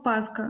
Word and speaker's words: паска: Паскою так е слова слово паска наголос якщо взяти назний відмінок однину має на першому складі паска Але якщо ми